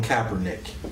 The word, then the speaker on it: Kaepernick: But because in my spirit, I couldn't look at what Kaepernick, but how you pronounce it? Colin Kaepernick.